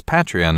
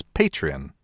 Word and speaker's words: Patreon: tweeting at us about mispronouncing patreon as patreon instead of as Patrian yeah we should say